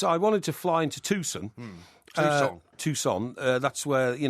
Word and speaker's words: Tucson: But it's Tucson. Yeah, that's what I said. That's what I kept saying. It's spelled T U C S O N.